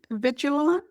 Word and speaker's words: Avigilon: A vi I can, I don't know if I pronounce it correctly. Alon. Avigilon.